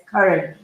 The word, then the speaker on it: Curran: Miss Diane, Curran, right? I'm supposed to pronounce her name as Curran.